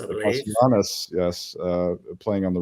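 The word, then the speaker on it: Kastanaras: And we got how does one pronounce this Greek's name? Kastaranas, I believe. Kastaranas, yes, playing on the right there, with Luca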